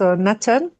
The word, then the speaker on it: knit: Can you write us net? Net. Do you know the meaning of net? Net. Yes. Yes. Net. Let me say that net is regular verb. So this is net. Absolutely. The k is silent.